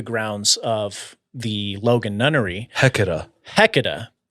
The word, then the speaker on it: Hecate: of the Logan Nunnery, Hecata, or Hecate, I think is how you pronounce it. how do you spell this? Okay, the first pronouncing is Hecate.